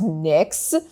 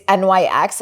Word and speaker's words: NYX: Anyway, she recommended one by the makeup brand NYX, which I had no idea, by the way, that it's pronounced NYX. It's NYX.